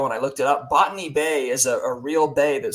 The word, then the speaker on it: Botany Bay: And they say Botany Bay is how they say it in the song, but it's Botany Bay, like a botanist.